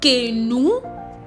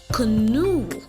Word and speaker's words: canoe: sweat man and Brethren this word is not quinoa and it's not kenu no the word is rightfully pronounced canoe canoe yes I know